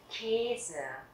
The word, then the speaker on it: Käse: Der Käse, der Käse, âm A umlaut, chúng ta sẽ đọc là âm E, và đây là âm A umlaut dài, các bạn sẽ đọc là der Käse.